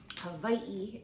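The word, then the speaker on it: Hawaiʻi: Havi is technically the way we should be pronouncing it.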